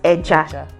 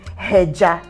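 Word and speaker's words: ẹja: when you have um fish in Yoruba language is pronounced as eja do you understand so you don't say hija you're not aspirating in that word okay so when you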